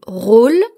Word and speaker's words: rôle: N'oubliez pas l'accent circonflexe sur le O de rôle. Écoutez la différence. Rôle avec accent circonflexe, rôle sans accent circonflexe. Rôle, rôle, rôle, rôle. L'accent circonflexe va changer la prononciation du O.